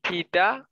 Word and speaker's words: tidak: Tidak. Like papa. Papa. The K now? Yes, Indonesian word pronounce the K as ek.